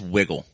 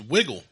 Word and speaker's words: Wigle: Uh, pronounce wiggle. It's wiggle. There you go. We got to the bottom of that. I like I I like it now. I know it's pronounced wiggle.